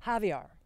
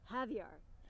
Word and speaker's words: Javier: How do you pronounce his name? Javier. Javier.